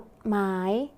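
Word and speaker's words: กฎหมาย: คำ นี้ อ่าน ว่า กฎ หมาย นัก เรียน สังเกต คำ ว่า กด นะ คะ มี ชฎ เป็น ตัว สะกด และ ออก เสียง พยัญชนะ ท้าย เหมือน ด เด็ก ดัง นั้น คำ นี้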